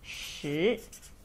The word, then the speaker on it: 十: Finally 10 we pronounce as 十.